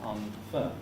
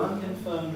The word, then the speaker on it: unconfirmed: your neighbors confirmed reports i think the accent in unconfirmed is on the first syllable and not unconfirmed according to unconfirmed reports there is one